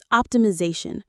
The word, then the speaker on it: optimization: And this is our next big word, optimization. Optimation. Optimization. The stress is on the Z syllable.